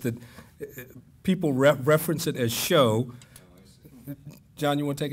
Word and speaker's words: SHO: It is a SHO. And it's spelled the same. Yeah, it's yeah, and he happens to be a purist, right? And so it's SHO, not show, but it means the same thing.